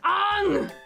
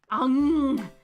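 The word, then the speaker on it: Aang: the movie it's it's Ang the sound that you make when you stub your toe yeah or you bite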